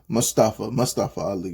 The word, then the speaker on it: Ali: Ali.